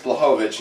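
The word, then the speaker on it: Błachowicz: And I'm like, it's Blachowicz.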